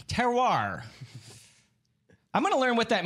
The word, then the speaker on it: terroir: episode of texas whiskey it's like the little dog right terrier yep hello and welcome